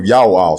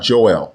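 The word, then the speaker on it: יואל: to the book of Ya'al, chapter 2, verse 32. The prophet's name is Ya'al, not Joel, and it means Ya'o is God.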